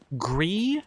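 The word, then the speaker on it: Gris: and then started playing gree which is my understanding of how to pronounce g r i s uh that is a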